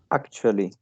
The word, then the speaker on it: actually: Uh, Actually, it has 3 syllables, and the same as actual is in the first.